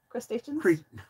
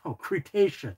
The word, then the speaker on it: Cretaceous: Wanted me to pronounce to say. Crustaceans? Cretaceous.